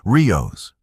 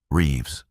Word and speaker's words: Reeves: Krelvax consulted his tablet, stumbling over the pronunciation, Rios, Riyas, Ree Reeves, the human said, her voice carrying that flat, unimpressed quality that Vexthor had learned to associate with her species. Maya Reeves. Just Reeves is fine.